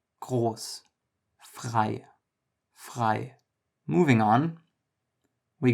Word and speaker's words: groß: words like jalapeno, and the German R is sort of like that sound, the but just a little bit further to the front.